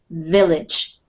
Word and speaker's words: village: In English, we pronounce the first letter as a V, village.